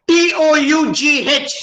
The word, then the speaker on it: tough: T-O-U-G-H is tough. Where is F there in tough?